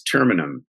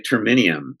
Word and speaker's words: Terminum: By the way, the pronunciation is Terminum. So Terminum. Terminum, yeah. So for some reason, other people like to say Terminium. I don't know. I guess they think it's sort of like kryptonite or something like that.